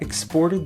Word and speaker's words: exported: syllable exported and here when it's a noun the stress is on the first syllable exports so very often in english